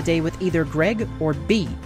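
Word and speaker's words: Bea: with either Greg or B, who I kept mispronouncing as Bay.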